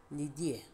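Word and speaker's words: cnidae: and these organelles are called the Nivea of course the sea is silent when pronouncing it but remember to write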